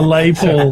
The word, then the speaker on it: Les Paul: A Les Paul. A Les Paul. The S is silent, you know.